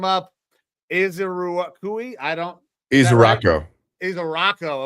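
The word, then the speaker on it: Ezeiruaku: isui I don't isaro isaro okay so don't pronounce all the vowels um this kid generated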